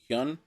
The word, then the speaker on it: Hyun: but Lee Do Hyun. the young dude. Is that how you would pronounce Hyun? Hyun.